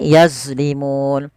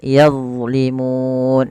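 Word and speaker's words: يظلمون: Jangan sampai yang pertama dibaca dengan zai, yazlimun. Ini banyak terjadi yang menggantinya dengan huruf zai. Yang kedua, yazlimun, memantulkannya juga sama, tidak boleh. Padahal huruf dha bukan huruf mantul. Dia tidak boleh mantul. Nah, bagaimana melafalkannya sebagaimana tadi di awal, yaitu pangkat ujung lidah kita menempelkan dengan gigi sari dan ditebalkan yazlimun, yazlimun.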